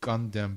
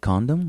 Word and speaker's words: Gundam: Well, some stuff I wrote down something about Mobile Site Gundam, but it's Mobile Site Condom. What? No, Gundam.